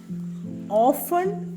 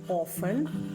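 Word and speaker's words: often: ഇത് എങ്ങനെയാ നമ്മൾ പറയാക ഓഫൺ എന്ന് പറയാം ഓഫൺ stress on the first syllable രണ്ട് സിലബിൾ ഉണ്ട് സ്ട്രസ്സ് ഓൺ ദഫസ്റ് സിലബിൾ ഓഫൺ ചിലവർ ഓഫൺ എന്നും പറയും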